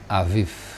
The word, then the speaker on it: Aviv: Kalau saudara yang pernah belajar bahasa Ibrani tentu tahu kalau ada ada dot di tengah huruf vet itu menjadi bet, kalau dot yang nggak ada menjadi vet. Jadi sebenarnya ini dibacanya bulan Aviv gitu.